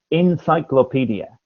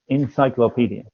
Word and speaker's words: encyclopedia: correct oh encyclopedia okay your pronunciation of that is is uh is quite um different from the rhythm but encyclopedia encyclopedia is psychological encyclopedia okay so